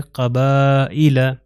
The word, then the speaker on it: قبائل: تو حمزہ کے نیچے یہ کسرہ آ گیا تو اس کے تلفظ ہے قبائل. قبائل. تو یہ یا جو ہے لکھا جا رہا ہے مگر پروناؤنس نہیں ہو رہا، کیونکہ سائلنٹ لیٹرز میں